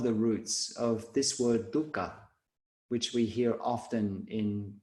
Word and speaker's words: dukkha: on the word dukkha please note the pronunciation we all be aussies have a tendency to pronounce it dhaka which is like a dry dip that we mix olive oil and drip out bread and dip our bread into it's like a dip it's not dhaka it's dukka but speaking